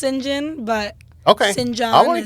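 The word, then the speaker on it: St. John: Yeah, There- it's pronounced Sinjon, but Okay.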